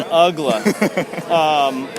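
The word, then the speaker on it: Uggla: month of the season nobody would pronounce his name right pa announcers other broadcasters anybody and we got tired of telling him right now his name is dan ugler his name is dan ugla middle of the game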